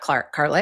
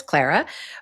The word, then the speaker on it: Clara: And I I It's not Carla, it's Clara.